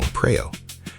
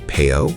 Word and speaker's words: Praew: the local band Ozone, many foreign listeners struggled to pronounce Praew correctly, often saying Peo or Pure.